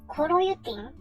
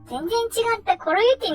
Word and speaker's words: coroutine: a different approach called Coroutines. Is this pronounced "koroyutin"? I'd like to check that first. Oh, I was completely wrong. I thought it was "koroyutin," but it was "coroutine." Hahaha. They're completely different.